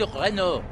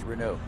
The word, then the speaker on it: Renault: Renault used Monsieur, c'est Renault. Renault used to have an Alliance Cup, and that was the first thing they said. It's pronounced Renault.